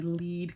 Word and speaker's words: lead: What happens here, so scientists want to identify a lead compound. That's pronounced lead, not lead.